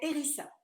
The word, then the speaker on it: Elisa: En fait, le S entre deux voyelles, ça siffle comme un Z, mais c'est Erisa.